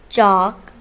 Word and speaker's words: chalk: classroom vocabulary: desk, desk, चेयर, चेयर, whiteboard, whiteboard, marker, marker, class, chalkboard, chalkboard, chalk, chalk, L इसमें silent है, notebook, notebook, pencil, pencil,